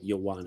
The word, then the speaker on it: Ioane: Like you say about the what think about the letter Y. Yo. It's like the the IO is like a yo, like Ioane.